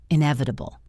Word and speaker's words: inevitable: The word inevitable. I neva. This means something that cannot be avoided. It is inevitable that technology will change. Stress the second syllable. I nevidable. Try it. inevitable.